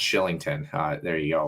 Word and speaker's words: Kylington: scottish name um and it's spelt kylington um but it's pronounced shillington for whatever reason right and it's if